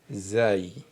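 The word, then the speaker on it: زاي: Ensuite la même forme que Ra mais cette lettre c'est zaï.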